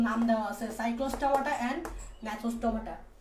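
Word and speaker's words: Gnathostomata: আর এই super class 2 এর নাম হচ্ছে ন্যাথোস্টোমাটা। তো দেখো এখানে জিটা উচ্চারণ হয় না, বলার সময় জিটা উচ্চারণ হয় না, এটা হচ্ছে ন্যাথোস্টোমাটা।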